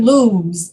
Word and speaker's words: lose: With the word lose, L-O-S-E, you do the same thing as you do with your name, S-O-U-Z-E. So sometimes in English, S-E is pronounced like Z-E, lose.